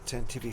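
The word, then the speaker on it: Tantive IV: This time, we are using the Tantivy 4 set, and I can't find my piece. Oh, really? I have not heard of that one. The Tantivy 4?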